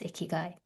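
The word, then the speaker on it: ikigai: I mean, I have, but let's ask our audience, have you heard of this Japanese concept, iguay? Is that how you say it? Yes, it's ikyu.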